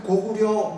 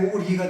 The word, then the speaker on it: 고구려: 대표적인게 뭐냐면은 우리가 지금 고구려 무슨 고려 그러지 않습니까 근데 그게요 지금 굉장히 잘못된 겁니다 고구 리입니다 근데 왜 고구리가 되냐면 나라 이름으로 쓸 때는 리라고 해라라고 그랬어요 근데 요새 언어학자들이 정말